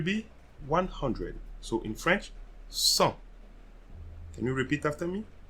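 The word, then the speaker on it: cent: first one will be 100 so in french sun can you repeat after me sun so you see here i'm not pronouncing the d one more time sun 103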